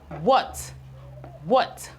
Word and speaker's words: what: We have what. We have the W, but the H is silent.